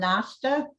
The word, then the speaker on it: Nosta: So we have John Nosta, CEO at Nostalab. Did I pronounce it correctly?